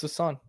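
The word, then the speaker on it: Sasson: Like, I found it in the pronunciation guide. It's Sasan.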